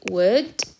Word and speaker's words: would: I'd rather أساسا هي I would rather. You have to be careful when you pronounce would. The L is silent.